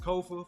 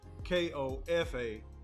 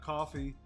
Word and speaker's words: Kofa: I am your host Kofa for those that don't know k-o-f-a not coffee not not Kofi or any variation thereof Kofa rhymes with sofa this is grow tall